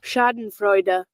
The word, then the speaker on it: Schadenfreude: So here's the word, how it's pronounced. Schadenfreude. Schadenfreude, right? It is a German word.